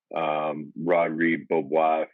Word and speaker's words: Rodrigue Beaubois: You mentioned it, some of the guys way back from Tony Parker, Boris Diaw, Rodrigue Beaubois, that's how you pronounce his name.